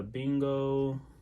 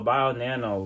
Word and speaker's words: BioNano: let's switch over to bingo bio nano that's what it is buy on there no i said it wrong all right so bio nano very strong score on